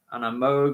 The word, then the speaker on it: Moog: It's Stevie Wonder playing it on a keyboard, on a Moog or a Moog, however you want to pronounce it, and Moog.